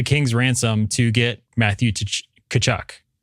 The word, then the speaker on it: Tkachuk: ransom to get Matthew Tkachuk. The T is silent, right? It's Tkachuk. Matthew Tkachuk, yeah.